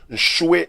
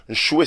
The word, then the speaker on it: Nshue: Pasteur Jean-François a dispo na Facebook Jean-François Nchoué Mpia. Nchoué s'écrit N-S-H-U-E Mpia, M-P-I-A.